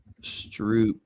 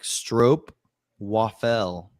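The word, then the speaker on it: stroopwafel: Yeah, it rhymes with rope. Yeah, baseball saw. I thought it was Yeah, it's actually like stro waffel waffle.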